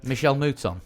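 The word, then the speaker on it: Michèle Mouton: my honor by Michael moton monton no idea Michelle muton Michelle muton yeah and uh wrong name wrong sex but you got there in the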